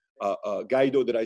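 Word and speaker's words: Guaidó: the president i always have a hard time pronouncing this name gaido uh gaido that i said right yeah he agreed and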